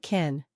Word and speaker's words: kiln: It sounded like kin. Many students thought it meant family. So we need to know that kiln means a special oven for pottery. This way the pronunciation will not trick us.